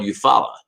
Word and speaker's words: Eufaula: were made in uh eufaula alabama really hopefully i pronounced that right because i know in oklahoma it's called eufala the lake eufaula so uh yeah i